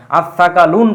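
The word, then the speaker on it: الثقلان: যোগ করা হয় তাহলে সেই আলিফ লামের আর উচ্চারণ হবে না এই এর উপরে একটা তাসদিদ চলে আসবে এজন্য সাকলান আসসাকালুন পাইলাম আমরা।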